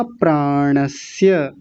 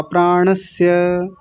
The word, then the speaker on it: प्राणस्य: वा प्राणस्य, कई लोग तो इसी में गलती कर रहे हैं, प्राणस्य, प्राणस्य इसको बोल रहे हैं तालव्य शकार लगा करके, प्राणस्य नहीं, प्राणस्य, स ये वाला स बोलना है।